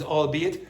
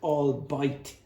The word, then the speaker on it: albeit: And the pronunciation is albeit. Some English speakers don't know which. No. Uh, no. Okay. Some some English speakers don't actually know this word, the pronunciation, and they will say things like all bite, which is sort of trying to sound German, but it's not a German word.